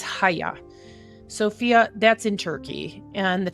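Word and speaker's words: Hagia Sophia: at least the the um and I don't know if I'm saying it correctly but you don't say it haja or haga it's haya Sophia that's in Turkey and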